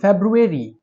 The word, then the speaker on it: February: जी, तो लाइब्रेरी के वर्ड में जो बी के बाद आर आ रहा है उसको हम प्रोनाउंस करेंगे, लेकिन फेब्रुअरी के वर्ड में हम आर को साइलेंट करेंगे।